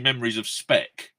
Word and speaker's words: Memories of Speak: No, it's actually Memories of Spec, but it's spelled like Speak in Liverpool. PK.